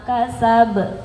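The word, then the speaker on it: كسب: Jangan ragu-ragu ya qalqalahnya. Kasab. Nah, harus kedengaran banyak. Itu namanya qalqalah kubra. Kubra itu artinya besar ya. Jadi karena dia posisinya di akhir jadi dipantulkan dan harus dengar.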